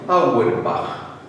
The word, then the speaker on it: Auerbach: Bueno, Auerbach se escribe, pero se debe pronunciar correctamente Auerbach.